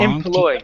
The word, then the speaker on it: employee: So yeah, watch that on those oi and like how it's the ow in howis, and that's what it was. So it was like employee.